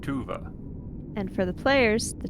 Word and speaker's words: Tuva: Tua. And for the players, the child did not tell you this, but that is spelled T U V A.